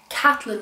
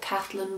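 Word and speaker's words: Caitlin: be a Woman by kathyn Moran um it's spelled kitlyn but I'm pretty sure she pronounces it kathyn but if I'm wrong wrong do correct me I bought this in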